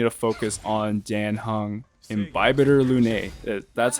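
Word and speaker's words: Imbibitor Lunae: DPS Natasha's next, but first, I need to focus on Dan Hung, Imbibitor Lune. That's how they pronounce him in the trailer.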